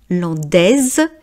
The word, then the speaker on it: landaise: Mais comme la salade c'est féminin singulier, l'andaise et le S de produit le son Z.